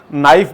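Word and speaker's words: knife: ऐसी नाइफ में हम एन का और एफ का सिर्फ साउंड पढ़ते हैं, तो 2 साउंड्स हैं, के साइलेंट है, इसलिए 28 सही है।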